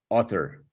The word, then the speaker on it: author: a u is all author author author author okay right so he finishes with a schwa right author author okay